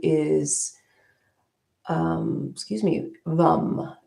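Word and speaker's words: vam: is um excuse me vum. It's v a m vom, but uh it's, you know, even though there's an a there, it's pronounced like a u. So vum vum.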